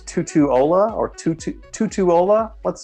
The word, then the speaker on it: Tutuola: right I believe she's trying to say it's Tutuola or two Tutuola let's say yep Tutuola well so let's read this question right question